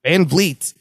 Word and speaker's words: Van Vliet: Van Vliet.